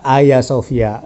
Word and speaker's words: Hagia Sophia: er doang gitu termasuk Hagia Sophia kitapun bacanya dengan adanya Hagia Sophia ternyata ayasofia seperti itu Oke Bro